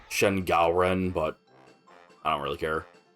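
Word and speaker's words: Shen Gaoren: Shenorin, giantest enemy crab. I think that's actually technically pronounced Shen Galen, but I don't really care first.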